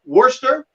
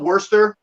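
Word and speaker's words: Worcester: go along the i so worster is how you pronounce it i used to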